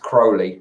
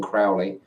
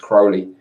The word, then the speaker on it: Crowley: me interested in Crowley Crowley supposed to be pronounced Crowley rather than Crowley most people pronounce it Crowley but it's supposed to be pronounced Crowley anyway yeah so Robert Anton Wilson really interesting